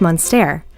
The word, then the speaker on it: Munster: be confused with french monster this cheese is as american as driving a hot dog shaped truck note the difference in spelling and pronunciation french monster american munster aged up to eight